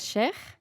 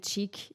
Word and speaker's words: Cheikh: La pronunciación correcta en árabe es sheikh, pero en castellano todo el mundo lo lee como sheikh, entonces yo digo sheikh. Y los ingleses dicen chic y yo me adapto.